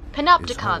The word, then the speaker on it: Panopticon: Panopticon, that's how you say it.